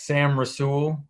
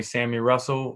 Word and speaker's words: Sam Rasul: to say it wrong that's sam rasul um but in southwest virginia they can call me sammy russell or whatever works uh on on our